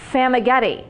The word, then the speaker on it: Famagetti: I am with Vanessa, and she gave me really good directions on how to say her last name, Famagetti. She said it's like spaghetti, but with an F.